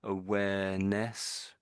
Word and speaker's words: awareness: I think I think it's getting that to to the V, making moving away from the V sound where the W is.